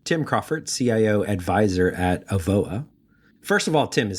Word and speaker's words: Avoa: So today we have Tim Crawford, CIO Advisor at Avoa.